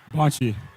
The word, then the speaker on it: Bonchi: Bonchi. Bonchi? Bonchi. Oh, pronounce the first part. Bonchi. Tim, you were correct. Bonchi. Right. It's like a French last name.